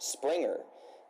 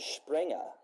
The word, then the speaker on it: Springer: And so Connie, his last name is not pronounced Springer in the dub. We pronounce it Springer because it's closer to how the German pronunciation would be for it.